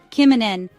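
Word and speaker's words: kymmenen: N kimin means 10 say Kim like the name say men like men at work but shorter then a soft n kimen 10 is a perfect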